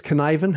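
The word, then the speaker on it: Cynefin: you pronounce it copin canivan because it's word it yes it rhymes with Kevin at least as best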